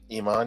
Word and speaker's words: Iman: I always thought that model Iman, or how do you pronounce her name? Iman, yeah.